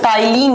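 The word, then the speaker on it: ptyalin: हाँ, एक बच्चा पूछ रहे कि मैम सलाइवरी अमाइलेज को टाइलिन अमाइलेज भी बोलते हैं क्या? यस, इसका दूसरा नाम होता है बच्चों टाइलिन अमाइलेज। पी से लिखा जाता है, टी से प्रोनाउंस किया जाता है।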